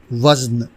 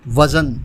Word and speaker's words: وزن: کر سکیں وہ کریں۔ آج کا لفظ ہے وزن، جو درست ہے، لیکن عموماً اس کو وزن بولا جاتا ہے جو غلط ہے۔ اس